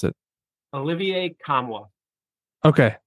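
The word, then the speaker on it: Nkamhoua: his last name because I don't want to mispronounce it Olivier kamwa okay kamwa we have him at eight he comes in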